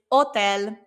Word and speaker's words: hotel: It's hotel. It's written the same. We just don't pronounce the H because remember the H is silent in Spanish.